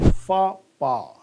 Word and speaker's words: faux pas: Look at the pronunciation, fa-pa.